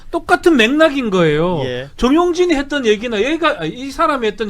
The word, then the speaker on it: 정용진: 정용진.